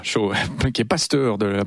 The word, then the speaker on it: Cho: coréen David yongi Cho on prononce cha voilà chaud qui est pasteur de